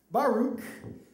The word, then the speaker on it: Baruch: We have Baruch. No, that's not Baruch. It's Baruch.